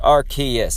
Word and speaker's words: Arceus: sort of shield stream farewell kendo also it's pronounced Arceus okay good thank you for telling me opinions